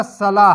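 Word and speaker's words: Salah: जो है वो आपका सलाह है साला जिसको नमाज कहते हैं आप साला अंग्रेजी में साला लिखा जाता है अरबी में थे साइलेंट होती है और ये इस्लाम का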